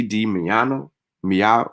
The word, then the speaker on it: Di Maio: Italy's foreign minister, Luigi Di Maio, yeah, that's how you say it, urged Italians to get vaccinated.